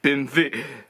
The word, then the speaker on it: BMW: got taken out or BMV or BMV as some Germans like to pronounce it yeah both bmv's got or BMWs got taken out and